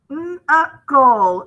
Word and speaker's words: knuckle: Okay, we have ghost letter K in. U followed by a C. We have final stable syllable KLE, so we're marking that out. This is kind of like a digraph in itself, so we're marking that out. Knuckle, knuckle.